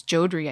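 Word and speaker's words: Jodrey: Um which is something that Kevin Judrey came up with. Um sorry, his name is Jodri. I think I always say it wrong cuz I've only seen it written. Oh my god.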